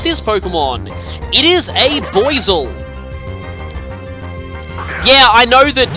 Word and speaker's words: Buizel: It is a Boizel. Yeah, I know that it's supposed to be pronounced Buizel, but that relies on the American pronunciation of boy, so I always call them Boizel.